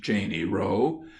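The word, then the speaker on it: Cheyne Row: We are called a Cheney Row, properly pronounced Cheney Row, and are a gentile neighborhood.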